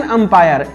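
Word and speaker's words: umpire: ध्यान से देखिए इसको, एन HMT watch, an exercise, N अंपायर। अब लिखा यू है लेकिन प्रोनाउंसिएशन इस बार क्या आया? अ आया, यू नहीं आया, अ आया, अंपायर, इसलिए एन लगा।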